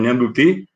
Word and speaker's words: ñandutí: El ñandutí, que en realidad pronunciamos ñandutí, Y bueno, acá van a ver ustedes, vamos a ingresar por un segundito para que ustedes vean este sitio.